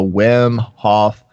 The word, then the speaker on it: Wim Hof: yes or no here we go the wim hof method yesterday so that yeah you're pronouncing it right you're saying it right yeah